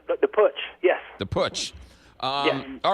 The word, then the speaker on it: putsch: you say that word that's right but the push yes the push all right so is is